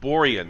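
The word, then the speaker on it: Borjan: is uh in goal borian that's how you say that including going before Kennedy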